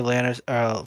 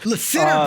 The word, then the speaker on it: Lassiter: Kamari Lannis. You got me saying his name wrong now. Jeez. Lassiter, baby.